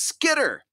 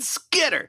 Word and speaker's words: Skitter: Because I tell you what, there's aspects of your Michiganisms that come out, and I think there was a little bit of a hard T there where I would pronounce it Skitter.